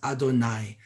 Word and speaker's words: Adonai: lines side by side you have to pronounce it as adonai adonai of course is the way we talk about god in hebrew and that's how we say god's name now we don't really